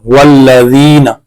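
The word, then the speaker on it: وَالَّذِينَ: वाव लाम ज़बर वल लाम ज़बर ला वल्ला ज़ाल याज़िर ज़ी नून ज़बर ना वल्लज़ीना।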